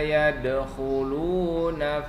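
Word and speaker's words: يَدْخُلُونَ: Kho ya, pangkal tenggorokan, bunyi dia ketika kita membacakan atau mengucapkan huruf kho, ada bunyinya di sini. Kho, pangkal tenggorokan.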